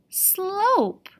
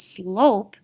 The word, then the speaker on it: slope: letters there are sl slope i know this word is slope because silent e is going to make the o say its long name not slop slope max quickly raced to